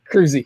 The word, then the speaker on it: Kroeze: And it's Kroeze, right? I don't want to say it wrong. I don't want people to see it wrong. Kroeze, you got it.